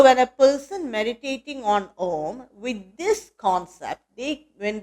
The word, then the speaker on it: Om: So by the Sandhi rules, Guna Sandhi, A and O becomes O. So when we pronounce, we should say it as Om. When you say it as japa or with any mantra, we must say Om only, because that's according to the Sanskrit grammar, Vyakarana.